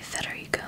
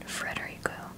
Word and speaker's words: Federico: It is actually Federico, not Frederico.